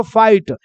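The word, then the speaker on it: fight: थे यहां पर देखो फाइट एफ को क्या पढ़िए फ आई के बाद जी एस टी है तो आई हो जाएगा आई तो फाई और जी एच साइलेंट हो जाएगा टी का हो जाएगा ट तो क्या बन जाएगा फाइट क्या बन जाएगा फाइट वैसे ही है एस को क्या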